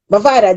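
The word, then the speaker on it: Mavado: Mavad, Yeah, Mavada.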